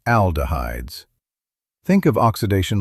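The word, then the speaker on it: aldehydes: That processing can create oxidized compounds and something called aldahhides, pronounced aldahhides.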